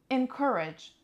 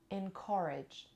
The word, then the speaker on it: encourage: of all let's see I'm gonna go with the American pronunciation first encourage encourage encourage encourage the Kathleen stresses on the second this is American pronunciation but in British English we say encourage encourage so encourage encourage